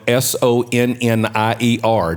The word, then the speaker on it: Sonnier: Yes, my mother's maiden name is Sonnier, which is spelled Sonnier. Now, how you get Sonnier out of that spelling, you only Cajun would know.